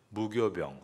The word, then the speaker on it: 무교병: 무교병 한자어로 업술무 그리고 효소입니다. 효소가 없다. 그런데 이것을 교라고 발음을 하게 됐습니다.